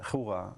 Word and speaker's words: hygge: Del hygge. Juga, se dice. Es que es así como higa, que es una cosa Juga. nórdica, claro, que no tenemos ni idea de pronunciar. Es que no sabemos pronunciarlo. Es como higa, así.